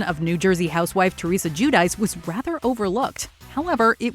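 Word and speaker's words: Giudice: Well, it was Judice. Uh-huh. And then I realized it was Judich.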